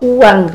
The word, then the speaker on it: oeang: Nah, ori sendiri atau uang Republik Indonesia. Kenapa O? Karena dulu ee sebelum ejaan lama ejaan lama itu O itu adalah OE. Nah, jadi oeang Republik Indonesia dibacanya uang itu juga ee merupakan